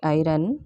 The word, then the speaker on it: iron: Example, I R O N, not iron. This is iron. R is silent.